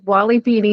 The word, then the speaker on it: Wally Peony: It took me a little while to figure out how to say it, but it's Wally Peony seeds.